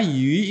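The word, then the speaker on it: 余: Nah, karena yu ini bacanya ini adalah sama dengan bunyi ikan yu, maka akhirnya disimbolkanlah menggunakan ikan.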